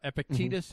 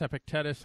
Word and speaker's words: Epictetus: dudes diogenes and uh epictetus uh epictetus epictetus i've heard it pronounced both ways and uh what do